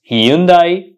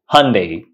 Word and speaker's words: Hyundai: pronounce it uh Hundai it's not pronounced Hundai the correct pronunciation is Hyundai Hyundai Hyundai Hyundai Hyundai